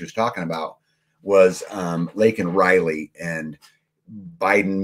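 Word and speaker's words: Laken Riley: name what she was talking about was um lak and Riley and Biden mispronounced her name and called her Lincoln Riley during the speech but um about the little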